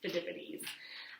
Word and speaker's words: Phidippides: The messenger was Phidippides. It's kind of hard to say, but it's Phidippides.